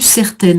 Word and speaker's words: certaine: Donc ma conviction ne devint que plus certaine en faisant bien sonner le féminin ici.